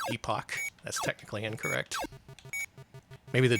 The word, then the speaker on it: Epoch: I keep having to remind myself it's pronounced epoch and not epoch.